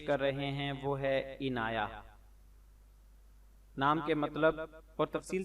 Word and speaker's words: عنایہ: منتخب کیا جاتا ہے۔ تلفظ اور اعراب: عین کے نیچے زیر، نون پر زبر، یا پر زبر اور ہا پر جزم، یعنی عین زیر عین نون الف نا عینا، یا ہا زبر یا عنایہ۔ وضاحت: عنایہ یا عنایہ